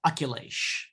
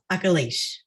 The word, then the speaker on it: Akilesh: your name correctly uh very close so it's um uh oculish akalish yes perfect thank you